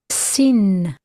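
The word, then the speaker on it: שין: Sin. Sin. S, as in sky.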